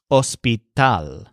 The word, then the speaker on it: hospital: tall too and so his word for hospital is spelled exactly like the English word but it sounds like this oh sweet al so we stressed Todd a few miss shapen